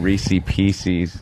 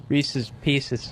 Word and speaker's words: Reese's Pieces: You said Reese Pieces. It was Reese's Pieces.